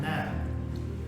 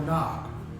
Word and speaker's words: Nog: chieftain, the Sacred Wrath Nag, or Nog, is what he pronounced it.